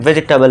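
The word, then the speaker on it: vegetable: इसका correct pronunciation वेजिटेबल है।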